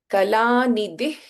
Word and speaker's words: कलानिधिः: Whenever there is Ka or Kha, and then we have the Visarga before that, then Kalanidih Kavya Kala. So the pronunciation is different. We do not chant the complete Visarga here.